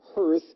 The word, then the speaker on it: Hirth: Well, his name is Billy Firth. I should pronounce that correctly, Billy Hirth.